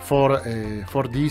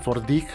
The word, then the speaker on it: 4DDiG: 4D se llama, 4DIG, también lo pueden pronunciar así.